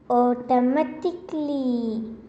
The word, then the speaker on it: automatically: In a word, the letter A, which comes immediately before the letters L, L, Y, is silent.